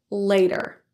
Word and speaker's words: later: are vowels all around the T in front and behind and it's an unstressed syllable it will sound more like a d later let's listen I'll catch